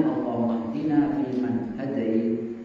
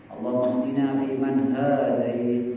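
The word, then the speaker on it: اللهم اهدنا فيمن هديت: Cara bacanya Allahumma hdina fi man hadayt, jangan dipanjangkan katanya. Karena kalau dipanjangkan maknanya jadi orang Yahudi. Allahumma hdina fi man hadayt, ya Allah berikanlah kami petunjuk seperti orang-orang ada di Islam.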